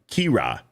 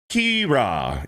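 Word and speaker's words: Ciara: And Daniel Moore with a 250 says, "Sara is an Irish name pronounced Kira." In Ireland. In Ireland, it's Kira.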